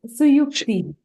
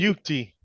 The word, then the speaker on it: Suyukti: It's Suyukti. Oh, so Yukti? Yeah, it's like SU is pronounced Su, YU is U, and then there's a KTI. That might be tricky. Suyukti.